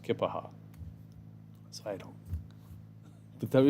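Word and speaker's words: Keya Paha: the other station, that anytime any of us would say Keopaha, she would write us a letter and say it's pronounced Kippaha.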